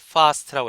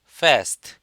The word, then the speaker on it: fast: 영국식 발음이기 때문에 에 발음을 fast라고 했어요. 아로 발음하죠. 미국식은 에, fast. 영국식은 아, fast 이렇게 발음합니다.